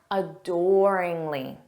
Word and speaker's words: adoringly: Listen here, gaze back adoringly. Again, this means to look deeply at someone with love or admiration. Let's practice adoringly. Notice that syllable stress on door.